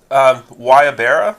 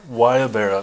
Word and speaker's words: guayabera: do we pronouncing this because it's not phonetically correct and I'll think guayabera guayabera starts with the G yeah it's a I